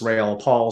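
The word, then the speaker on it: Raoul Pal: I think I agree with what I heard Raul, technically pronounced Rail Paul, say, and I've interviewed him a couple of times.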